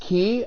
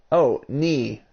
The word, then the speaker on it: Knee: Is the K silent, or is the K silent, or or does it make the sound? I just need to know if it's silenced. I want to say your name correctly. Alright, the K is silent. So is it N-E-E, like knee? Alright. It's pronounced, knee. So the K is silent, but the K is there.